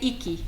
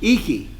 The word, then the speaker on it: IKI: you're also in iki am I pronouncing we say icky icky yes uh well I'll just